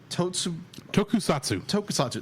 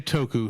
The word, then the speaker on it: Tokusatsu: the now 3D CG feature based on the Tokusatsu. That's how you say it. Tokusatsu. Tokusatsu production. You could just say Toku for ease of use.